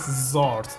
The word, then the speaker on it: X'rt: so this is Zord xrt means zort to me actually this is zort yeah no no worries just zort because when you pronounce yet Xavier it begins with x so this is zart definitely like a fart sound interesting welcome to the